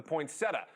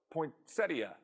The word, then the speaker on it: poinsettia: Next, a claim about a Christmas favorite, the poinsettia, or poinsettia. Look, I'm not verifying the pronunciation. They're actually both recognized in the dictionary.